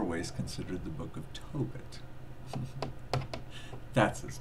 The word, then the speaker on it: Tobit: But I grabbed up Tobias, the Book of Tobias, but it's actually in more ways considered the Book of Tobit. That's his name. Toe and then bit.